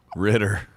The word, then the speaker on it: Ritter: place his last name rhymes with knitter ritter john ritter played the